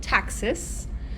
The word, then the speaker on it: taxis: So when bacteria move, we call it taxis. I know it's spelled taxis, but we pronounce it taxis.